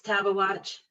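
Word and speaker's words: Tabeguache: is either grizzly or badger moose pass or tabagawatch pass did i pronounce that correctly it's taba watch table watch thank you all right so to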